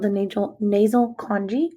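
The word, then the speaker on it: conchae: called the natural nasal congee i know there's no g in there but that's how it's pronounced and what those are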